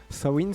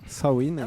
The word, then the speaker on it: Samhain: Sain, c'est ça ? Sain, voilà, c'est ça. Ça s'écrit sa main.